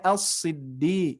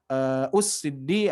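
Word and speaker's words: الصدّيقين: Jadi dibacanya al-siddi ya. Jadi tidak us-siddi atau is-siddi, tapi dibaca a karena sudah jelas di depannya ada lam ya, di depan hamzah wasol.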